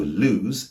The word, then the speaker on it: lose: So lose is with a Z sound. If I pronounce lose with a S sound, I'll be saying loose with a double O.